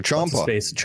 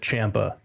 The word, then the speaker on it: Ciampa: Ciampa.